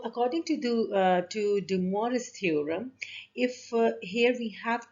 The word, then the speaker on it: De Moivre: actually dumour's theorems and it's a french name so of course we have to say the same way as the french people say uh and in english